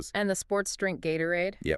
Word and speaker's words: Gatorade: The T in Gatorade is a flap T because it's between the A and the O sound which reduces. And notice the second syllable uses the schwah. Aurade, not gate.